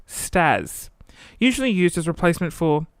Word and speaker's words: STAS: an acronym meaning sexual terms actions and sounds pronounced stars usually used as replacement for that's what she